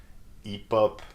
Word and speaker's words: hip-hop: Hip-hop, yeah, I know, it's quite ridiculous. But that's the way it is, right? So you shouldn't pronounce the H, okay, for both words.